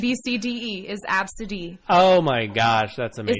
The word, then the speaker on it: Abcde: Absidy, by the way, is ABCDE. That's how you spell that name. Yeah. It's pronounced That's, Absidy.